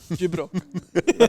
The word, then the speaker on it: Gyprock: bro, but we Yeah, say like- that's how you say it properly, man. Gibrock. Is it really? Yeah, man. That's just how Walk say it, That's man. how they're basically the whole industry.